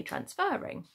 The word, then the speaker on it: transferring: Okay, it's quite a tricky one, this, because it's to do with the stressing of the syllable. So if we say that R, that is when that syllable is stressed, and we do need the double R. Okay, so for transferring, we do need it. We do, because we are saying we don't say transferring, we say transferring. Okay, that's how you pronounce it.